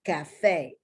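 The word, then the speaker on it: café: Now, once again, here we have the long A sound, and we don't have the letter which represent that long A sound. We don't have an A, we have an E. And this is cafe.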